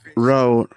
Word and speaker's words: Rode: But anyways, a lot of people is talking the road. See, I'm saying road like road the street. So, I'm going to spell it R O D E.